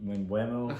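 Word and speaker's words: Mbeumo: Mbuemo.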